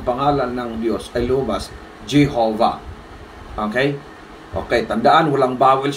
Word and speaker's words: Jehovah: sa kanilang pagbigkas noon, kapag yung W ay gumitna sa isang salita, yung W na yun ay nagiging binibigkas ng V. Okay, wala tayong ganun ang talaga salita, may pabago-bago. According sa kanila, V.